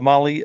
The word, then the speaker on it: Mahle: And for the podcast listeners, Molly is spelled Mahle.